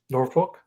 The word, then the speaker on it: Norfolk: Trey always pronounced the L very Norfolk. I can't even say it. It's like no fuck. It's like no fuck. No fuck. Yeah, the L's no, it's not, Tyler. Norfolk. It's Norfolk State.